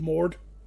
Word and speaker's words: Mord: Ms with him um Lord mord whom I hate because his rhy his name rhymes with Lord oh a Augustus mord